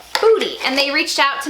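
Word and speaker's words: Boody: clothing by the brand Booty. It's actually spelled B-O-O-D-Y, but it's pronounced Booty.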